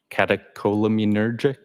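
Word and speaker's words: catecholaminergic: I probably butchered that up. Does that ring a bell? Uh, catacolaminergic.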